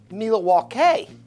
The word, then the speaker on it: Milwaukee: also an algonquian word it was originally pronounce Mila walk' and means the good